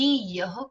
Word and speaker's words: यह: तुझे पता है मैंने ये खाया, गलत है ये, मैंने ये खाया, मैंने यह खाया, ये खाया नहीं, यह खाया।